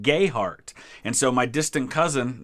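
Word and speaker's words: Gayheart: other spelled differently and in kentucky a lot of them pronounce it gay heart and so my distant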